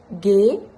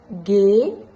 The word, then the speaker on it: ghế: Une façon de bien retenir comment prononcer les deux E, c'est que le E sans chapeau, il est ouvert. Eh, comme le E de Seb, et avec un chapeau, c'est fermé. Comme Sébastien.